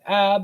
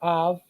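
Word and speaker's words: אב: So Av, you can pronounce it as Ab or Av. The plural form is Avot or Abot.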